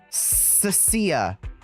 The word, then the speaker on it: Cecilia: God, I keep mispronouncing her name. It doesn't matter what I do or how I do it. I look at her name and I add an H in there. I gotta remember, she's a snake thyron. So it's the sound. Cecilia. I keep wanting to give it like a hard C sound.